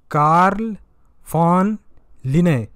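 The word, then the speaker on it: Carl von Linné: कैरोलस लिनियस जो है famous Swedish scientist थे, इन्होंने, इनका नाम एक्चुअल में था कार्ल फॉन लिने, यहाँ पे लिखा हुआ है लिने, इनका नाम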